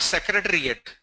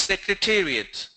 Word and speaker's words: secretariat: It's not secretariat. Don't say secretariat, it's secretariat. Financial or financial, both are perfect.